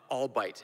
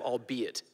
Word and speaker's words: albeit: by all bite some James Franco I think said and all bite instead of albeit oh my God yeah